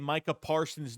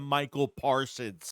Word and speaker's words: Micah Parsons: He's still saying Micah Parsons' name wrong. He's calling him Michael Parsons.